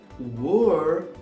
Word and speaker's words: were: was was e o are vai ser were. Were. Muito cuidado com essa pronúncia. Muita gente confunde com where.